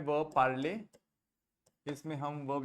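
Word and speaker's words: parlent: बताइए शिवानी क्या पढ़ते हैं P-A-R-L-E-N-T को? पार्ल. वेरी गुड, पार्ल पढ़ते.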